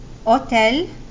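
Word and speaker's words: hôtel: so it's silent chocolate hotel here we don't we also don't pronounce the H in French Hotel con step and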